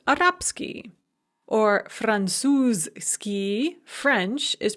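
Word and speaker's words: арабский: devoice so for example the adjective arab ski arabic is pronounced arapsky or franzuski french is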